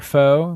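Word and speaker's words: faux: Cher Negotiates New York, American Betty in Paris, Achieving Personal Perfection, Cher's Furiously Fit Workout, Friend or Foe, and foe is spelled like F-A-U-X.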